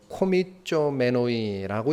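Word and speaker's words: κομιζόμενοι: 읽으면은 코미쪼메노이라고 읽는 단어입니다.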